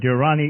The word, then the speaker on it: Dirani: MOA Durrani is in the house and I'm a pronouncing your name right demo correct again that